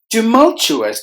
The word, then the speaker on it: tumultuous: two syllables tiger tumultuous tumultuous there are four syllables in this word we have distressed the second syllable must be heard with more volume to Mo to us